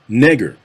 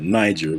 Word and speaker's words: Niger: Now, you may be looking at the screen and wondering why I'm not pronouncing that Niger. That's because back in the day, it wasn't called Niger. That's a relatively modern pronunciation of it.